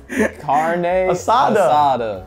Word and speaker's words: carne asada: got some assades today carne asada carne asada okay you're saying it right now in a big shout out to chipotle for the karna side up why you keep putting an s in there bro stop it pronounce it